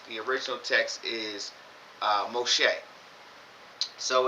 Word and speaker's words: Moshe: Um but in this book in the scriptures, the original text is uh Moshe. So it's spelled M O S H E H.